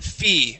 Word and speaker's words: feet: Now, don't be afraid of this double E here. Give me a good E sound, okay? Feet.